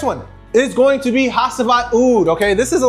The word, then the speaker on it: Hacivat: If you haven't tried Hacivat, it's pronounced Hacivat.